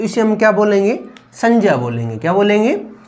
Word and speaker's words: संज्ञा: तो इसका उच्चारण क्या होगा? जे होगा। क्या होगा? जे होगा। तो इसे हम क्या बोलेंगे? संज्ञा बोलेंगे। क्या बोलेंगे? संज्ञा बोलेंगे।